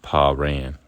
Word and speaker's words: Paran: pronunciation better than Pan actually Paran like your P your pops your P he ran get it verse 13